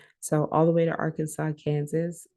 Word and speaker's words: Arkansas: So, all the way to Arkansas, Kansas, I laugh because Arkansas and Kansas rhyme because Arkansas is our Kansas, but the way that we pronounce it, we don't perceive it as that.